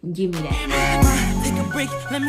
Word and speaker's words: Gimme That: But the second music video is called Give Me That, or Gimme That, sorry. Let me pronounce that correctly. Gimme That.